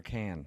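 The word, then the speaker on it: Cannes: But the pronunciation is it con or can?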